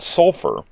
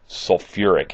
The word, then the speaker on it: sulfuric: and put it so some might call it sulf acid but it's really called sulfuric acid so really that we're not dropping any syllables with the uh the uh the element sulfur now also you'll notice